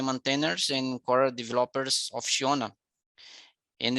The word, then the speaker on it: Sionna: I think it's Sionna, the pronunciation is an Irish name.